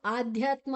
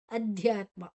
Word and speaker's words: ಅಧ್ಯಾತ್ಮ: ಅನ್ನ ಅದ ಜೊತೆ ತಕೊಳ್ಳುವ ಇದು ಆಧ್ಯಾತ್ಮ ಅಲ್ಲ ಅಧ್ಯಾತ್ಮ ಅಧ್ಯಾತ್ಮ ನಿತ್ಯ ನಿತ್ಯ ಯ ದೀರ್ಘಾಕ್ಷರ